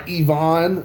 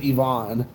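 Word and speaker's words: Iván: ivan Rodriguez I'm sorry Ivonne Rodriguez I just recently found out that's how you pronounced it I thought it was ieaving this entire time but apparently is Yvonne that's my bad alright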